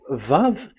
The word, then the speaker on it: Vav: So it's V as in Vogue. So it's really V. How to read Vogue? So the word, the shape Vav is really pronounced V, like Vogue.